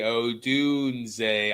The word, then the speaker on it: Odunze: Dune. Zay. Odunze. I want to add a D. It, for some reason, just wants to be there. But anyways, you called it. You said that Odunze will have a better game.